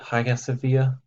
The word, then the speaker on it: Hagia Sophia: this particular structure is called the highest via that's how this is pronounced I say I'm getting close to it Hagia Sophia it was built as